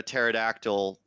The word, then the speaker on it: pterodactyl: a bad dinosaur joke how come you can't hear a pterodactyl go to the bathroom because there P is silent no no you're fired